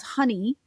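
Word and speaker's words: Hyni: energy modality, energy healing called honey, which sounds like the stuff that you put on your um your toast, right? Honey, but it's spelled ed h y n i. It's Welsh for energy.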